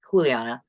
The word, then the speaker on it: Juliana: name is Juliana Rangel it's spelled like Juliana but she's from Colombia or something so it's pronounced you know Juliana r-a-n-g-e-l and she has